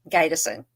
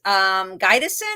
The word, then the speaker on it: Gydesen: Gydesen. Gydesen. Yep. I do it. And she just said it to me. Trust me, everyone pronounces it that way for whatever reason, but it is Gydesen.